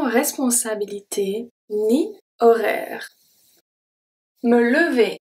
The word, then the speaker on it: horaire: Ni horaire, horaire. So the H is always silent in French, this is no exception. And the E at the end is also silent.